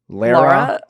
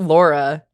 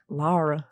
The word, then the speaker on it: Laura: how to say it I think it's laa Laura but it's not Laura because I'm from the south and it's not like Lara so it's somewhere in between what what does if